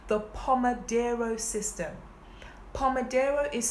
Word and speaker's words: Pomodoro: for me and this system is called the Pomodoro system Pomodoro is spelled p om e d R o the Palma Dara system this was a system created by an